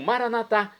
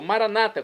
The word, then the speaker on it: maranatá: E agora eu clamo maranatá, como dizemos nós católicos, ou maranata, como dizem nossos irmãos separados das comunidades evangélicas ou protestantes. Não importa a pronúncia, o significado é o mesmo.